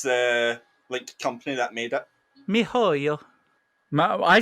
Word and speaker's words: miHoYo: Also, I found out how to pronounce the company that made it. Mihoyo.